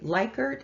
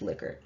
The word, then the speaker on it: Likert: a lot of people um by the way leichert and liquor are both this both correct maybe not technically but culturally they're both correct most people say leica i do believe the person who it was